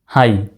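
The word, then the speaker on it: high: এইচ আই জি এইচ এই হাই বানানে আবার জি এইচ এর উচ্চারণ নেই হাই টি ও টু আর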